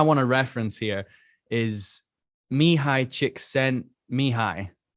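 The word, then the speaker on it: Csikszentmihalyi: to reference here is me high chick sent me high me high chick sent me high that's how you say his name i checked before we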